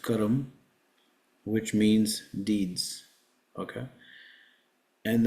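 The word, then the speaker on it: कर्म: because it gives you the return of your karma Saturn is the significator of profession and the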